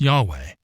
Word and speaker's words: Yahweh: caps the Hebrew on the other hand is pronounced Yahweh and is based on the term for I